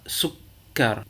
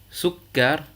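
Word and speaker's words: سكر: On dira sukkar, tafaddal, muallim. Je recommence. Sukkar, tafaddal, muallim.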